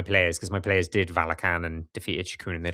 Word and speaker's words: Valachan: It's Valakan now. I always thought it was Valachan. Well, I wasn't sure if it was Valachan or Valakan because I've heard different people pronounce it different ways.